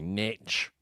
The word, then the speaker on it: niche: Which, by the way, North Americans say niche, which I really don't like. Niche, really? Yeah. Of all the linguistic crimes that Americans commit, that is probably in my top 3.